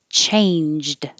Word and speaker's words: changed: representing only the sound chain in this ng combination is not the ing like in the back of the mouth like ring and sing this is an n in the front chain and then a j and a d changed changed